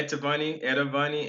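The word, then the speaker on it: Etavonni: Yeah, Etavani. It's innovate backwards, so it's Etavani Media.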